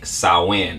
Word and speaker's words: Samhain: roots particularly the gaelic sowen it looks like samhain right but it's always other